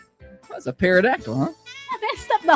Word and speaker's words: pterodactyl: What's a pterodactyl, huh? I messed up the whole joke. I know it's not a pterodactyl. Why can't you hear a pterodactyl go into the bathroom? Get the P is silent, Holly.